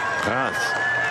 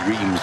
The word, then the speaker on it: Reims: Reims. You wouldn't expect it to be pronounced like that based on the spelling. Well, most people say Reims, but that's completely wrong.